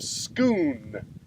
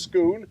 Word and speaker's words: Scone: as the Stone of Scone s cont like scone except it's pronounced Scoon it also became known